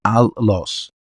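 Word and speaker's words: ἄλλος: Alos en griego se escribe de esta forma, la transliteración es alos, se pronuncia allos, que significa another, otro.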